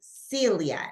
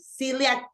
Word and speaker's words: Celia: Celia, like Celia, right. This Celia is a way to pronounce it in English. In Spanish, we said Celia, right? Like Celia Cruz, right? But that is the correct way.